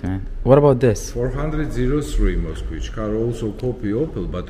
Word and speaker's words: Moskvich: 412 Moskvich.